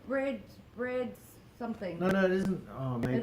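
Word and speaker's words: brède: but apparently it's called you pronounce it you pronounce it bread uh leah says have you had the small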